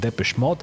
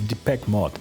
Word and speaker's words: Depeche Mode: Here he deliberately mispronounces the name of the band Depeche Mode as Deepak Mode, making a playful pun.